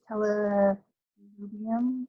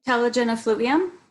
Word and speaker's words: telogen effluvium: Well, okay, so going back to the genetic, so you can have, I'm going to pronounce it wrong, how did you say it? Is it telelubium? Telogen effluvium?